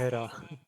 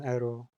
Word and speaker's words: エラー: システムエラー緊急事態発 Era. まもなく予備電源が消失します至急システムを復元してください The Lich has a more natural pronunciation with Era rather than Ero. Because, yeah, we just can go Eroi.